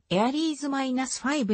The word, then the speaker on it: Ares V: 神話から名付けられ英語の発音はエアリーズ - 5 に近い 2010 年 4 月